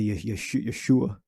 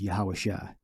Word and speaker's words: Yahushua: All right, they say Yeshua. All right, the correct pronunciation we believe is Yahushua.